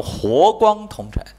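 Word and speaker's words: 和光同尘: 实际上严格的来讲，按传统发音它叫活光同尘，活面的活啊，要把这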